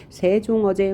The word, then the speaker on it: 세종어제: 그러니까 우리가 읽을 때는 싱종엉쟁이라고 하면 안 되고 세종어제 훈민정음이라고 읽어야 한다.